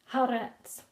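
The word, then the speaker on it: הארץ: The earth, haaretz. Hey, aleph, resh, sadeh. Haaretz. To pronounce the word, we have to dissect the individual letters. Hey becomes h, aleph becomes a, resh becomes re, sadeh becomes ts. Haaretz.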